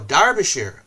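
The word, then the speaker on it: Derbyshire: present that's true uh here in the UK we say derer as if it were Dar oh darbishire darbishire darbishire okay strange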